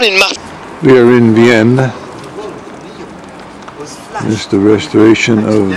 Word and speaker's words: Vienne: This is from the Rue de Pomme, going to the Gare of Vienne. He said Vienna, but I don't think it's pronounced Vienna for the French.